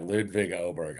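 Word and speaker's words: Ludvig Åberg: Of course, the caddy for Ludvig Oberg. What's the What's the pronunciation we're going with these days, by the way? What What do you go with? You got it right. Ludvig Oberg.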